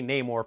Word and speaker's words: Namor: movie is Teno cuerta as Namor or Namor he pronounces it nomor the wakandans say Namor for some reason I